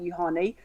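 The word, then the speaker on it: Juhani: two reasons one because he's spelled out phonetically how i should say his name so thank you for that you honey but also these outfits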